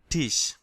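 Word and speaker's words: Tisch: তাই না তাহলে এই টেবিলের হচ্ছে আর্টিকেল হচ্ছে টিশ এটাকে বলা হয় টিশ দেয়ার টিস দা টেবিল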